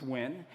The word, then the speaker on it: Win: it's a play on my last name win which no one can pronounce in the US so it's win and I have basically